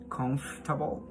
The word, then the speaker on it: comfortable: so first of all this word has four z levels and the stress one is in the first syllable okay so now but